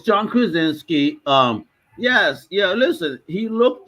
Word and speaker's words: Krasinski: I actually liked John Krasinski or however you pronounce his name. yeah, it's John Krasinski.